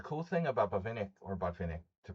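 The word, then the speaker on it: Botvinnik: I was just doing a Buffnik game in analyzing one of Buffnik's games and the cool thing about Bvenic or Bahinick to pronounce it correctly is that he was so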